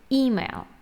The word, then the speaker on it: email: an email to email don't forget the distress is on the first syllable email hand to hand or